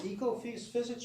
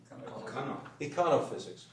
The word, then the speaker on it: econophysics: Is it ecophysics or econ physics? Econophysics. Okay, I didn't pronounce it right.